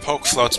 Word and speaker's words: PokeFloats: It's pronounced PokeFloats because there's no accent on the E.